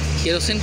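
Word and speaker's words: kerosene: केरोसिन की भी spelling गलत होती है, केरो, फिर सेने, केरोसेने लिखते हैं, केरोसेने पढ़ते हैं केरोसिन, जिसका हिंदी अर्थ होता है मिट्टी का तेल।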